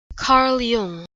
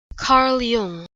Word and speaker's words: Jung: Carl Jung. Carl Jung.